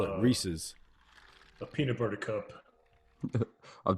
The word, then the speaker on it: Reese's: literally said like it it is meant to rhyme with pieces that's why it's rhesus it's like plus it's it's it it belongs to him it's it's reece yeah rhys reese's sure exactly exactly thank